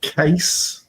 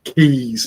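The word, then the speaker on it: Kees: a Dutch guy called Case Case bobman Keys People call it Keys it's not Keys Case Case Brey you pronounce case yeah okay and don't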